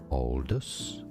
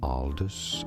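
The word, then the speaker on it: Aldous: Oldest. So some say it more as Aldis, others more as oldest. Oldest or Aldis or oldest or oldest. Okay. So it is Aldis Huxley.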